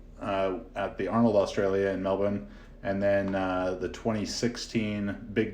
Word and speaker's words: Melbourne: 45 minutes outside of Melbourne notice any Australians listening I hope you I hope you appreciate that proper pronunciation of Melbourne not Mel born yeah I got to